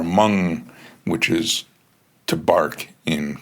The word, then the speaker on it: Magne: It's written Magne, but I think they pronounce it more like mum or mung, which is to bark in Korea.